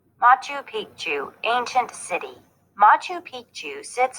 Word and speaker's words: Machu Picchu: royal treatment machu picchu was a royal estate machu picchu pronounced ma chu was a city that was part